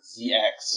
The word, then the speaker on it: ZX: where anytime it's like ZX or Hunter x Hunter like how the way we would end up pronouncing it Z cross and uh Hunter cross Hunter so that's just a weird